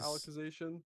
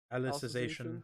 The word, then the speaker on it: Alicization: I don't know how to say it as alexization alicization yeah alicization that I really enjoyed that was